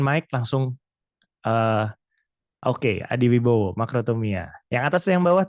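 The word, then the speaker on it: μακροθυμία: Apakah teman-teman tahu cara bacanya bagaimana? Atau ada yang mau open mic langsung? Oke, Adi Wibowo, makrotomia.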